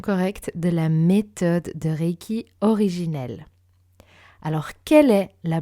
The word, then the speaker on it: Reiki: Le SH dans le Shinshin, qui n'est pas Shinsin, Usui et non Uzui, Reiki et non Raiki, et enfin Ryoho et non Ryo-o.